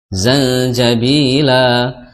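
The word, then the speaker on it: زنجبيلا: kaana mizajuha zanjabila zanjabila la di situ ada mad iwad Ya Mad iwad Jadi dibacanya fathah selama dua harakat saja Mad thobii saja jangan sampai zanjabila itu terlalu Kepanjangan ya terlalu panjang karena madwat itu cukup dua harakat seperti itu kemudian ayat yang selanjutnya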